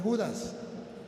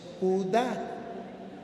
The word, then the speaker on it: Judá: No, mire, tiene un acento en la A y le falta la S. No es Judas, es Judá.